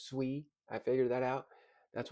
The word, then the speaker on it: Sui: It's not pronounced sooie by the way. It's sui.